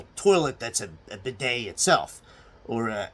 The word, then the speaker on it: bidet: And remember, when you're pronouncing bidet, do not use the T, or the French will have a shit fit over it.